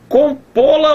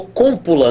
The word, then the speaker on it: compô-la: Compô-la ou cómpula, né? Cómpula não dá nem para falar direito. Compô-la, onde é que está a sílaba tônica? Tá bem aqui. É uma oxítona terminada em O.